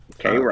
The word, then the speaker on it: Cairo: K-Row.